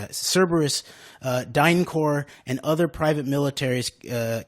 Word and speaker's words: Cerberus: They want Kavanaugh to legalize this use so Eric Prince, Cerberus, actually, that's how you say it. Cerberus, DynCorp, and other private militaries can take over our legit U.S.